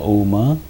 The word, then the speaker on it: Om: Now bring the attention to the whole body, from the toes to the head, and chant a combination of the 3 syllables A, O, Ma. So chant Om 3 times loudly.